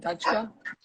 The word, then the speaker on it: Dhachka: Is that how you pronounce it? Dhachka?